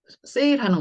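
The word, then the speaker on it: sale: L은 앞집도 리을, 뒷집도 리을을 준다 그랬는데 이 E는 소리가 어차피 안 나니까 줄 필요가 없어요. 그런데 이제 소리만 A 발음으로 바꿔준 거죠. 단어를. 자, 그래서 이 단어 세일입니다. 자, 우리가 뭐 세일하는 거, 판매하는 거, 물건 팔 때, 예, 세일 굉장히 좋아하잖아요.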